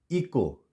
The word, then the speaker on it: echo: अगर सी के बाद एच होगा तो वहां पे भी हम सी को प्रोनाउंस नहीं करेंगे। एग्जाम्पल देख लेते हैं कुछ। ECHO, इको, यहाँ पे इचो नहीं पढ़ेंगे, इको।